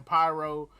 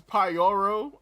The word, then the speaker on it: Pororo: we have Pororo who I've been saying his name wrong because I've been calling the man pyro for like at least the last couple months it's Pororo um you know what